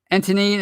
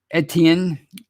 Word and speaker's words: Etienne: He's a regular, and he says, if the Steelers can pick up an Antonine in the draft that's the running back from Clemson. I always say his name wrong. Etienne in the draft with our receiving core, our offense will be unstoppable.